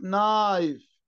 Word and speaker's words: knife: الك مع الان، الك دايما silent لما تلزق في الان، زي كلمة knife knife، ني ني silent H.